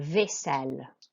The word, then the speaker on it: vaisselle: Okay, we have AI, which is an A sound, not an I sound. Okay, it's an A sound. So vaisselle.